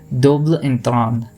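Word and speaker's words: double entendre: okay so so so pronounce it with me once again Dobler in throm so why of this French language fascinates people is because it has a very different sort of pronunciation here ends nasalized and the final syllable is barely audible okay so this is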